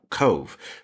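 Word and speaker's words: Cobh: its original english name cove pronounced the same way but spelled in irish c-o-b-h with a follow over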